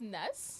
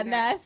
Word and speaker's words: N3S: name come about well it's actually pronounced Ness okay yeah Ness yeah so it used